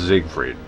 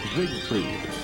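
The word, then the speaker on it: Siegfried: The announcer here it says Zigfried but looked up like a pronunciation.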